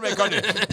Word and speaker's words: McConaughey: you said McConaughey.